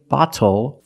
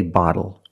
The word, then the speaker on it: bottle: And we do not say bottle, we say bottle.